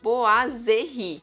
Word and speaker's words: boiserie: Boiserie se escreve bem diferente de como se fala. Eu vou deixar escrito aqui como se fala, tá bom? Então é B-O-A-S-E-R-R-I. Boiserie. É isso.